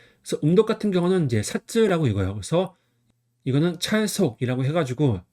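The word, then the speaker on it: 札: 그래서 음독 같은 경우는 이제 사쯔라고 읽어요.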